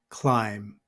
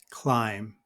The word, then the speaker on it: climb: have the word climb notice that the B at the end of the word is silent climb climb now the be also